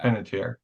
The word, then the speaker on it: Panettiere: Panettiere. Yeah. Panettiere.